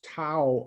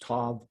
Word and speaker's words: tav: Now in verse 4, this tau, or it's pronounced tav, is the last letter of the human alphabet.